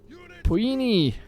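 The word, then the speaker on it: Poeni: Puini. That's how you say it.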